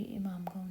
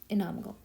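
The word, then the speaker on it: इनामगांव: इट रंग ये देखो इमाम इनाम गांव सॉरी इमाम गांव नहीं इनाम गांव अब ये जो है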